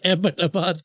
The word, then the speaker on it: Abbottabad: They try to say it like that, but it's literally the English name Abbott because we were colonized. So it's Abbottabad, like named after some old English guy.